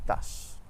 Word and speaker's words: tache: In English, the CH makes a ch sound, but in French it's always sh, like in the word bush or shingle. And in French we have champion et tache.